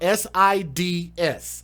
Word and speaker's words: SIDS: baby died of this thing called seeds which is spelled s-i-d-s sids if y'all don't know what sis is